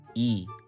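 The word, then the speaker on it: 이: Lee is actually pronounced as E, and Park is actually pronounced as Park.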